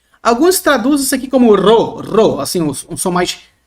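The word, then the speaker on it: ρω: depois nós temos o Ro maiúsculo Observe que no português parece um p né mas no grego ele não é um P tá é um ro é um r o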